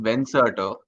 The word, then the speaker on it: Venserto: Uh yeah, it's pronounced Venserto.